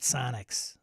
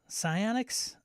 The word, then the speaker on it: psionics: it's not melee yeah it's pessionics psionics not Sonics psionics I don't know it's